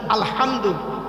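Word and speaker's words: الحمد: আলহামদু, এই গলার ভিতর থেকে হেটা উচ্চারণ করবেন।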